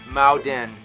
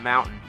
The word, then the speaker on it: mountain: wrong fans have noticed he says maen and not Mountain a bit Petty but